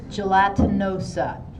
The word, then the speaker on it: gelatinosa: Gelatinosa. So like gelatin.